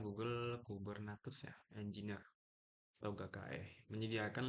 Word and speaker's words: Kubernetes: Jadi ini bacanya Google Kubernetes ya, Engineer atau GKE, menyediakan lingkungan terkelola untuk mendeploy atau mengelola menskalakan aplikasi dalam kontainer menggunakan infrastruktur Google.